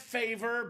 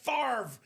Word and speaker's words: Favre: NOT BRETT FAVER. BRETT FAVRE. YOU SAY HIS NAME RIGHT.